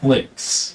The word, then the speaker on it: Flix: By the way, you got my name wrong. It's Flix. Yeah, but then like an X there, you know, Flix. short for Flixor, you know.